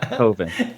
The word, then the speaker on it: Coven: Coven. And Because Coven sounds like oven. That was his explanation why it's Coven.